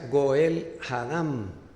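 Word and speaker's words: גואל הדם: encontrare él lo matará en hebreo este vengador de la sangre que aparece en números 3519 que ya leí en hebreo se pronuncia Goel hadam les cuento rapidito cuando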